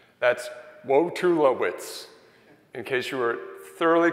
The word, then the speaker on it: Wojtulewicz: I'm Wojtulewicz.